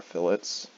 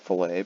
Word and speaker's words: fillet: delete our chamfers I'm going to delete our fillets some people call it filet but it's pronounced fillet make sure you call it fillet you might